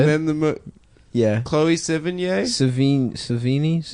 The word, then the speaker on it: Sevigny: Savini? How Yeah. do you say it? Chloe Savini. Savini. No, Yeah, it's No, it's not. Sevigny.